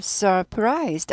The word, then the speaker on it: surprised: surprised. R 있죠. surf 아니고 surf 이렇게 되죠. surprised. 논란.